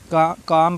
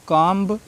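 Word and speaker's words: comb: M के बाद आया B हमेशा साइलेंट होता है। काम पढ़ेंगे, बॉम्ब पढ़ेंगे, थम पढ़ेंगे, डम पढ़ेंगे। इनको कॉम्ब, बॉम्ब, थम्ब, डम्ब नहीं पढ़ना है, गलती से भी नहीं पढ़ना है, ठीक है।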